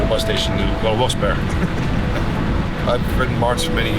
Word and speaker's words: Wilkes-Barre: From Wilkes-Barre, it's Wilkes-Barre for the people in this area, or you pronounce it Wilkes-Barre. It's by two names, John Wilkes and someone Barry. And they put it together, it became Wilkes-Barre.